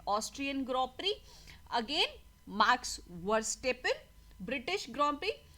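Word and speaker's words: Grand Prix: Okay, tennis से आगे बढ़ के चलते हैं ग्रॉ प्री. ठीक है, इसको ग्रैंड प्रिक्स नहीं बोलते, इसे ग्रॉ प्री बोलते हैं.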